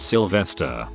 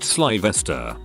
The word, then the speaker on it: Sylvester: When the teacher was taking attendance, she called upon a kid called Sylvester and she pronounced it Sylvester. He corrected her and said it was pronounced Svesta.